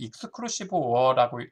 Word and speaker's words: XOR: 그 다음에 이 XOR는 익스클루시브 OR라고 읽는데, 그래서 이 익스클루시브 OR는